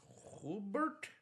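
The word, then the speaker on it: Joubert: I don't know how to pronounce that. J O U B E R T. Hubert.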